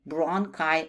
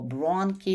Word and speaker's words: bronchi: И bronchi о бронки – это тоже звук к.